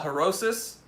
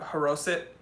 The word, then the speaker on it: haroset: you eat it with something that we call harosis, or depending on how you pronounce it in Hebrew, haroset, but we just say harosis, and it's like a